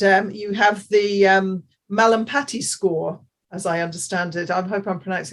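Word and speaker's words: Mallampati: their throat and um you have the um malam patty score as i understand it i hope i'm pronouncing that correctly that is correct yes is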